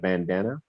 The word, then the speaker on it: Bandana: b-a-n-d-a-n-a it's spelled like bandana but the A's are pronounced more like an O such bandana okay and